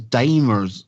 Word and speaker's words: dimers: of misunderstanding but as dimers that were saying there isn't it yeah literally pronounced like a dime because it only has one M and I was mispronouncing it for the longest time because all I was